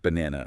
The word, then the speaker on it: banana: In British English, the stress is cleaner and a bit shorter on that second syllable. Bu N Ah, no. It's a different feel from the longer a sound you might hear in North America.